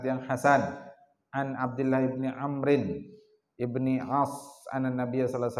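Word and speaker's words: عمرو: hasan, an Abdullah ibni Amrin ibni As anna Nabiy sallallahu alaihi wasallam qala. Jadi Abdullah bin Amr, kalau ada waw itu bacanya memfathahkan ain, Amrin. Kalau tidak ada waw setelah huruf ra dibaca Umar.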